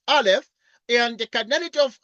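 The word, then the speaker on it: aleph: symbol n like this is a is a Hebrew letter pronounced Alf and the canity of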